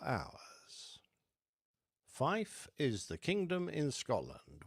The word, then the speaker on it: fife: To the purists in aviation amongst you, Fife is also the correct way to pronounce the number 5, apparently to keep from confusing it with the word fire.